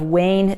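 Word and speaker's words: ワオン: And then last but not least, this is also from 2008 in PubMed, the efficacy of WAIN therapy in fibromyalgia. Now, WAIN therapies, that's spelled W-A-O-N, that's actually the Japanese term, and it means warm, healing heat.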